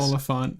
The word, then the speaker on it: Oliphant: frick do you pronounce this? Oliphant.